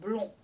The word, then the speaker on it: blond: Alors, blond comme poisson, c'est O-N.